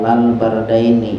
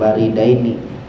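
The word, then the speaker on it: بردين: Telah bersabda Nabi sallallahu alaihi wasallam, "Man shal bardaini." Siapa orang yang salat dua waktu dingin? Ya, bacanya bardaini bukan baridaini. Dengan memfatahkan muwahadah ya. Ba yang bertitik tuh satu. difatahkan wasukun dan mensukunkan rnya bardain apa itu salat dua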